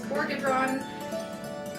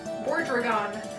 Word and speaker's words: Bordragon: to think about is Borgadron. That is definitely not how you say his name. Bordragon. Haha. Oh, I butchered that the first time.